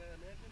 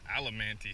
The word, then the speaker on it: adamantium: You know what adamantium is? Really? Just, you didn't laugh hard enough. I thought you said it wrong at first. I did. That's why I said adamantium. Adamantium is correct. You said alamanti.